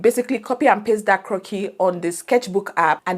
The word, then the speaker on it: croquis: So with Sketchbook, what we used to do back then is there's this thing called 12-head croquis. Croquis is a French word for sketch, scribble, right? So it's spelled CROQUIS.